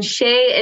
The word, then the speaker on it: Chez: i pronounce it properly it's c h e z but it's pronounced shea so i am curious